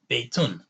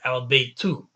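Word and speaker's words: بَيْتٌ: about them is that when it's indefinite, like it has a tanween, the double dhamma on the end, beitun. And when it's definite, it has al beitu.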